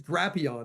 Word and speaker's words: Drapion: Sorry, it was Drapion. It was Drapion. As in Dracula, Drapion.